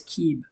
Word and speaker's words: Sib: Sib. Pronunciation is Keeb.